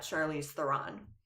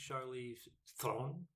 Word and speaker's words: Charlize Theron: So it technically is pronounced Charlize Theron That was really good. with a rolling R and everything else squashed into one syllable.